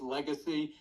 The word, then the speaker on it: Legasse: you did in fact my name is mispronounced all the time it's Legacy but if people vote